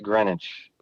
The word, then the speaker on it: Greenwich: but it's actually pronounced greenwich thank you no it's fine like greenwich village um that movie was